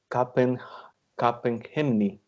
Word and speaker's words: Capgemini: I thought that it was Capgemini because you know that it has like a it had a French pronunciation, but nowadays I think that most of the people call it by Capgemini.